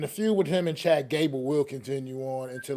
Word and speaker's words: Chad Gable: hope uh I'm say I think I'm saying his name wrong but um I hope he does well are but it's all right we get it what is his name we it's Chad Gable it's just Chad Gable I yeah said said